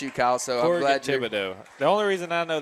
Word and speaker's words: Thibodeau: I'm not sure how to pronounce his name without you, Kyle, so I'm glad Thibodeau.